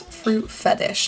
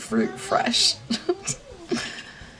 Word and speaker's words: Fruit Fetish: It's Fruit Fetish, not Fruit Fresh.